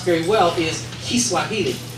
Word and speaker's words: Kiswahili: pronounce very well is Kiswahili. So many other people say Swahili, but that's not what it is. It's Kiswahili. But what I'm going to